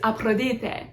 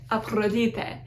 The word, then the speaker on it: Aphrodite: Aphrodite is Aphrodite, Aphrodite. It has a rolled R.